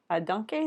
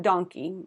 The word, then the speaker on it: danke: Danke, is that how you say it? Not donkey, but danke.